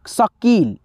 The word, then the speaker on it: शकील: है ठीक है भाई लेकिन इसका जो उच्चारण है स्लोली है शकील शकील ठीक है इसलिए